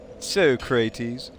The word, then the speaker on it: Socrates: soy cres obviously sorry I always default to the Bill and Ted pronunciation like I obviously know how to pronounce Socrates and if I saw the word Socrates I would say Socrates for some reason seeing Socrates makes me want to say so crates I do not know